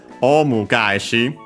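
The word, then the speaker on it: オウム返し: But yeah, so here with this term, omu gaeshi, which becomes accented on the second, on the first mora of the second word part of the compound, yeah, on the ga.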